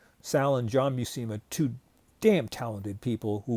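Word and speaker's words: Buscema: um like Salucma and some call him Salushama. No, I've heard him interviewed his he pronounces his last name Bucimma. Sal and John Bucima.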